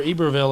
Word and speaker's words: Iberville: Yeah, and incidentally, we were in Iberville, or Iberville as the Canadians pronounce it.